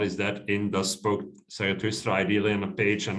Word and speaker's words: Zarathustra: How do you pronounce this thing? Zarathustra, yes.